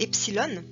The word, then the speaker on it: epsilon: cinquième la death et le epsilon qui va se prononcer et comme dans été mais qui va s'écrire